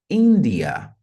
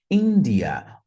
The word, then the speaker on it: India: I em língua inglesa notem que a sílaba tônica é a primeira India India Olha a diferença da